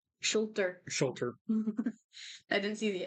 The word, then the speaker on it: Schulter: Shooter. Schulter.